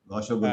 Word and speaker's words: rasgulla: on that note of sweets you mentioned, I had my first rasgulla, what you call that rasgulla, हाँ, if the pronunciation is right yeah, in correct.